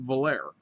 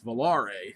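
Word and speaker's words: Volaré: I always pronounce it valer so it's Valar it has it has actually has a little thing on the E I was watching some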